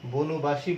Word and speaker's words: বনবাসী: মানে উচ্চারণই হচ্ছে না, কিন্তু যখন তুমি বনবাসী বলবে, বনবাসী, তখন কিন্তু আমরা দেখব এই অ এর উচ্চারণটি ওকারান্ত হয়ে যাচ্ছে।